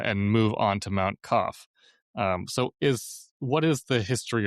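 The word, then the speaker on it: Qaf: I'm just saying it in Persian.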